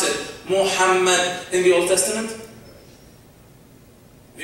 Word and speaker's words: Muhammad: Did you know that the name of Prophet Muhammad, peace be upon him, is mentioned as I pronounce it, Muhammad, in the Old Testament?